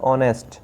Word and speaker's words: honest: H से, लेकिन इसमें जो H है वो साइलेंट रहता है, शांत रहता है, उसको नहीं पढ़ा जाता, तो इसको पढ़ा जाता है ऑनेस्ट।